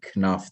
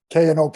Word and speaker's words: Knopf: we he pronounced it kanoff though he said the k it did uh interesting yeah it's a very wasteful last name the k and the p are silent they could have gotten